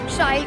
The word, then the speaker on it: Shail: So as you just said, it rhymes with style.